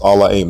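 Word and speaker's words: אלהים: Allah this particular word from Genesis 1:1 is pronounced allahim not Elohim there is no long old vowel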